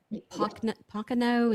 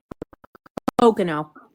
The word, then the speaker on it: Pocono: Po pankano. Is that how you say it? Pocono. Pocono. I'm sorry.